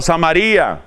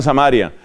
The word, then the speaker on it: Samaría: lejos no se vayan hasta samaría otros pronuncian samaria no se vayan hasta